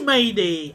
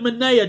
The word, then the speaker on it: Manea: Oh yeah, it is Maney. Oh, I just called it Manea just for laughs.